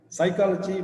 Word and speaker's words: psychology: So, first letter, knowledge, K silent, psychology, first letter P is silent.